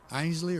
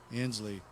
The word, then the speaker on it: Inslee: Ainsley or Inslee? Inslee. Yeah, yeah.